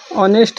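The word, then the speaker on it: honest: देखिए ओ पहले आए, ओ के पहले आए यच हमेशा साइलेंट होता है। ओ के पहले आया यच हमेशा साइलेंट होता है। जैसे ऑनर मिस होता है सम्मान। ऑनेस्ट मिस होता है ईमानदार।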